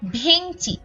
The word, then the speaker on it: ভেংচি: উচ্চারণ করছি ভ্যাংচা কিন্তু শেষে যখনই ই বা উ যুক্ত হয়ে গেছে অর্থাৎ এখানে আমরা দেখতে পাচ্ছি যে ই যুক্ত হয়েছে তখনই আমরা এর উচ্চারণটা এ এর মতো করছি বলছি ভেংচি ভেঙচি কিন্তু বলছি না এরপরে